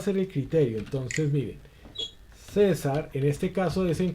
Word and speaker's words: César: César, en este caso, des en cuenta que no lo... César es una palabra, en este caso, grave, que tiene acento en la penúltima sílaba.